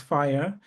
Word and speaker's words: FHIR: It's pronounced fire and it's just fast healthcare interpability resources.